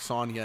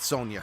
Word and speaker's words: Sonia: So, Sonic, Sonia, and Manic. Yeah, not Sonia. Sonia. Yes, it's spelled Sonia, but it's meant to they're the names are all meant to sound similar.